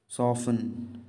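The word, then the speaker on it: soften: नर्म करना का, नर्म करने का मतलब है सॉफन। सॉफन, तो आपका सॉफन में जो साइलेंट लेटर है वो है टी। आप सॉफन को प्रोनाउंस करते समय टी का प्रयोग नहीं करते हैं।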